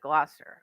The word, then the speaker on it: Gloucester: a pretty big city and yeah you actually pronounce it gloucester like somebody had to teach me that but